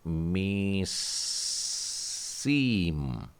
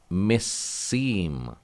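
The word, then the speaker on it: מִסִּים: पहला वाला म जो है उसको आपको छोटा ई की मात्रा म पे लगानी है, लेकिन समेक जो है उसमें बड़ी ई की मात्रा लगानी है, और वो भी दगेश के साथ में है, यानी स सी म। इसे लिखता हूं मैं मिस्सीम।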